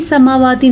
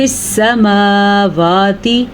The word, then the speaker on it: السماوات: حرکت نہیں ہے تو اس لیے ہم فی سماواتی نہیں پڑھ سکتے، ہم اسے پڑھیں گے فی السماواتی، یا کو ساکن کے بغیر پڑھے ہوئے، ٹھیک